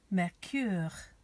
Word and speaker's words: Mercure: Mercure, Mercure, Mercure, Mercury, excellent.